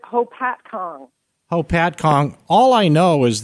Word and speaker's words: Hopatcong: I'm doing great and is it poppet Kong New Jersey how do you pronounce it we pronounce it Hopatcong hopatcong all I know